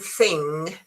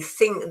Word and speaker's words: thing: Uh instead of saying thing uh they say thing sometimes they they pronounce it with more with a K. uh or they they go thing which is very very difficult with a very very um pronounced sound of G.